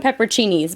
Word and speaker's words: pepperoncini: I call them pepperoncinis, but I think I'm saying it wrong because as I'm looking at it, it looks more like pepperoncini, like almost like pepperoni, but with a C in there.